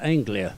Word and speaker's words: Anglia: What's the correct pronunciation for the body? It's a two-door sedan, which is an Anglia.